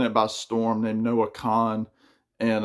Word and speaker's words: Kahan: And there's a guy that's been taking it by storm named Noah Kahan, and it's spelled Kahan. I believe it's pronounced Khan.